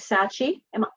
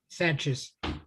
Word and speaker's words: Sanchez: I'm going to begin, and we're joined by Sachi. am I pronouncing your name correctly? Sanchez. Sanchez. Thank you, Sanchez.